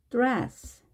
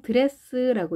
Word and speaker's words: dress: 드레스, 드레스, 드레스. 우리가 보통 드레스라고 이렇게 왠지 아무 부딪힘이 없는 느낌으로 발음하시는데요. 입 안에서 얼 울림이 있기 때문에 드레스, 드레스 이렇게 해주셔야 됩니다.